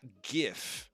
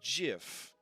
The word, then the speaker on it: GIF: you tried um all right then we've got gif now some people might tell you that it's pronounced jiff and you don't need those people in your